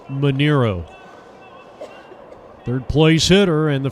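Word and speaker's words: Manaro: Manero, excuse me. Spelled M-A-N-A-R-O, but it's pronounced Manero.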